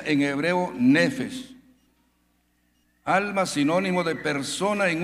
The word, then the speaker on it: nefesh: Es decir, el alma del hombre se pronuncia en hebreo nefesh.